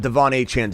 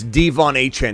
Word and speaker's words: De'Von Achane: uh uh Devon hen it's not Devon hen somersault it's devvon hen he's already made that